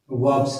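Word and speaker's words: verb: आगे हम लोग बात करते हैं वर्ब्स की। किसकी बात करते हैं, वर्ब की, ठीक है। ये वर्ब नहीं होता, वर्ब होता है। आर इंग्लिश में साइलेंट होता है, ठीक है ना।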